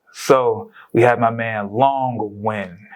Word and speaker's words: Long Nguyen: is a workhorse so we have my man long win how are you doing sir good good how